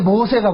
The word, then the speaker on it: 모세: 참 재밌는 것이 그 모세를 애굽의 발음으로 이야기 하지 않고 히브리식 발음으로 이야기할 때 모세라 그런다 모세 그 모세라는 이름이 될